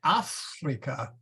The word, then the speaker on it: Africa: a long a and we have to say with a long a and uh let's see and we have to say in Africa with a long a